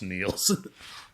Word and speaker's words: Niels: You pronounced my name wrong last time. It's pronounced Niels.